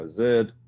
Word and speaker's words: azide: be this or we could add any sodium azid or sodium azide depending on how you pronounce it and what this is